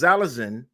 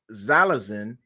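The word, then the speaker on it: xylazine: took some drink because zalazin No Ex zylazin I'm gonna say it right hopefully I'm saying it right it's not an opioid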